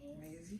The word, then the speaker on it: Maizy: And that rhymes with my name, Maizy.